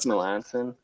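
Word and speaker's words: Melancon: I always forget how to pronounce Mark Melanson's name. Is it Mark Melanson?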